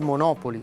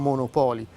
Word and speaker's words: Monopoli: di commercializzare il gioco mantenendo la pronuncia originale anche nell'italianizzazione del nome. Il gioco infatti uscì con il nome di Monopoli e non Monopoli, come ci si potrebbe aspettare, senza più la Y finale, ma con un accento